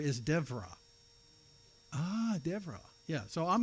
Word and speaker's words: Deborah: So it's more like V, which sounds like a V. So, so Deborah is not pronounced Deborah is Devra.